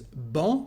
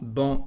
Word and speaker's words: banc: The first one is banc. Banc is a seat, a bench. Banc, we don't pronounce the letter C.